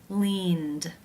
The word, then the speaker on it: leaned: The final sound of the verb in infinitive form is the n consonant sound. This is a voiced consonant. Therefore, it is case 2, where the ed is pronounced as the d sound.